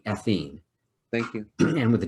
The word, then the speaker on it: ethene: e this is athene the ene ending pronounced with the long e ethene thank you and what